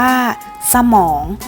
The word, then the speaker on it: สมอง: เสียง เท่า นั้น ค่ะ สมอง อ่าน ว่า สมอง คำ ว่า สระ เรา จะ ออก เสียง เพียง แค่ ครึ่ง เสียง เท่า นั้น ค่ะ ค่ะ สบู่ อ่าน ว่า สบู่